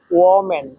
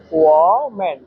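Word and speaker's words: 我们: এখানে দেখেন ও চাইনিজের তিন নাম্বার টন ব্যবহার করা আছে।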